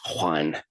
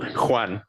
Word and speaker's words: Juan: It's not Juan, it's Juan. It's like a little, like you have to get a little in your throat. It's like if you say who? Who? Juan.